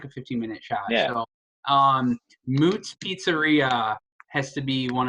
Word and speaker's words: Mootz: So Moot's Pizzeria has to be one of the best. It's spelled Mootz.